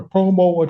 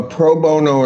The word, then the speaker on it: pro bono: Uh, is it a such thing as a promo attorney? A what? Uh, I may not be pronouncing that correctly.